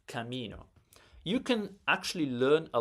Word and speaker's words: camino: It's not camino or camino. It's camino.